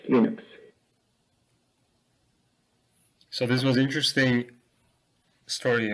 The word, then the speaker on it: Linux: is L St and I pronounce Linux as Linux so this was interesting